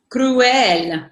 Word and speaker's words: cruel: Well, Okay, so here you have two vowels next to each other. So that's really where your phonetics comes into play, because you really want to sound those both out. Okay, so that's why when you speak it, it's cruel. You really want to sound those two, the u and the el, separate, because it really makes the word.